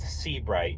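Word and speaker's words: Sebright: would definitely give them a call uh it's pronounced C bright you would think it's s EA but it's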